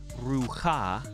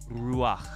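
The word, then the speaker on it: רוּחַ: So look at Ruach. It's not Ruha, it's Ruach.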